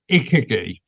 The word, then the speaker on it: ikigai: I always pronounce it in a different way. Ikigai.